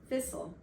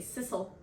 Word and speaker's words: thistle: one does nowadays, and it just kept having you say sissel, S-I-S-A-L, but that's what you were saying.